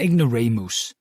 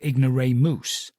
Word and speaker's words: ignoramus: done so he's an ignoramus he pronounced it ignore moose I thought hilarious sent